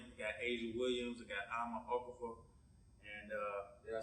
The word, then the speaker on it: Ama Arkorful: Amaarkorful. Okay, you said it. You got it. Okay. I wanted to say Okafor, but I don't like messing with it.